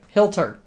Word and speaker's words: Hilter: voice of hilter right hilter rhymes with filter so that's what i